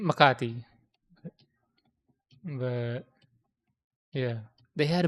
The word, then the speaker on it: Makati: And then This was This was in a mall in in Makati. I don't know why I pronounce that in an American way. It's in Makati.